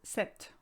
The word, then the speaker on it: ces: case sir and set becomes se c e s and you never say the s by the way the